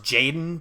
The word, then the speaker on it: jxdn: song so what by i believe it's pronounced jaden but it's spelled like jxdn he's like one of